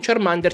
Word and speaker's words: Charmander: ma giusto per puntualizzare, Charmander non si pronuncia Charmander, come dicono nel doppiaggio nuovo dell'anime. Si pronuncia Charmander. Infatti il suo nome viene da Charcoal, carbone, più Salamander, Salamandra, Charmander. Ne sono contento perché sentire